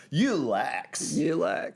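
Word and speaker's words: Yulex: rubber alternative called ulex y-u-l-e-x you lacks it sounds like a kind of It kind of sounds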